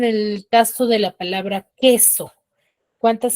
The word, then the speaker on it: queso: Porque yo al momento de pronunciar, yo digo queso. Yo no digo cueso.